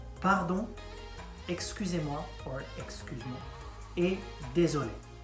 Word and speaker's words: désolé: Pardon, excusez-moi, or excuse-moi, et désolé. And not désolé. Désolé doesn't mean anything. Like désolé. Right. So if you want to sound French, learn, practice your pronunciation.